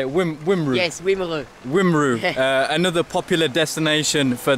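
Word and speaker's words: Wimereux: Yes, Wimru.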